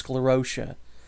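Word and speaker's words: sclerotia: the hard pack cores of mold known as sclerotic sclerosia that's how they pronounce it's sclerosia begin to break down on a cellular level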